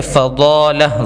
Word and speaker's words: فضالہ: فضالہ فا کے اوپر زبر ہے, فضالہ ضاد, آگے ڈبل ہو گیا فضالہ.